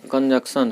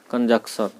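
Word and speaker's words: conjunction: ये सब क्या है, कंजक्शन है। कभी कभी लोग कंजक्शन नहीं कह देना है, यहाँ भी एन साइलेंट रहता है। कंजक्शन, कंजंक्शन नहीं कह देना है, जंक्शन।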